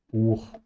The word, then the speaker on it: Buch: However, acht, Buch, Loch. In those cases, you use A, U, and O, and you have to say acht, Buch, Loch.